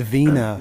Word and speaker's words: Wiener: He pronounces it Vina.